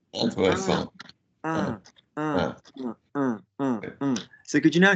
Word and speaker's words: intéressant: What is the pronunciation of the word IN? Je suis? No, of IN, not I am, IN. Like the letters IN in French. Intéressant.